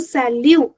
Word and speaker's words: salut: So we are not pronouncing it. So it becomes a sal which means hi or hello.